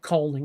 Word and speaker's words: Kulning: And you can go on YouTube and look up culling, which is spelled Kulning.